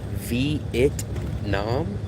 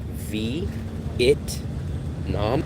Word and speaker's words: Vietnam: So when I hear locals say V vitam vitam next time listen to a local say Vietnam, they will never say v it like v it nom. They'll say vit.